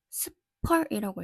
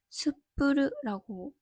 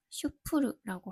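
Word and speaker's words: SPUR: 저는 맨 처음에 읽었을 때 이거를 스펄이라고 읽었어요. 근데 정확하게 말하면 스프르라고 해야 안 돼요. 같은 영어요도 어느 나라 식으로 말하느냐에 따라서 좀 달라져서 재밌더라고요. 어쨌든 저는 편의상 슈프르라고 할게요.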